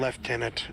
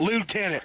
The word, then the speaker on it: lieutenant: that they call him lieutenant. It just... It's a British pronunciation of the term. I know that in the I'm like, where's in America we call it lieutenant.